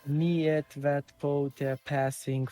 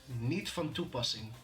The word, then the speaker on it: niet van toepassing: How do you say it? niet van toepassing.